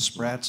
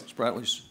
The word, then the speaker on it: Spratlys: and the building of the islands and the Sprats, I believe I pronounced that right. Yep, Spratlys.